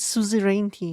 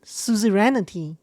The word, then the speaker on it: suzerainty: So she pronounced it suzerainty, her voice actress. This guy pronounced it suzerainty. He flipped the N and I around.